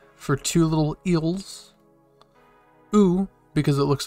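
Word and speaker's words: う: u turned sideways and it's pronounced ooh like the u like the u and u so we have a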